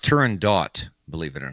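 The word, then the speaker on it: Turandot: let's go let's go it's actually pronounced Turan dot believe it or not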